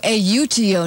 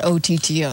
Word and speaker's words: auto: no other way to so it's auto a uto not otto that's right auto that's so that that's